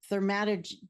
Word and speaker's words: thaumaturgy: and I'm not even going to try to pronounce it. Thaumaturgy.